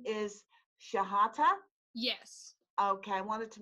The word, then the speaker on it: Chehata: with you am I your last name is she hotter yes okay I wanted to make sure I pronounce that correctly I get a start for